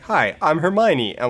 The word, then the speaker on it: Hermione: it was her Mayan her my Annie it's Hermione's like no no it's Hermione it is Hermione yeah I'm like her me oh yeah I know I know my brain went with her me own at one point but it was like no that's that's too wrong like that does not sound like a human name that that sounds like a pharmaceutical product nothing new sponsor of